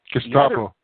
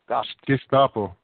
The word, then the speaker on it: Gestapo: Gestapo. Gestapo.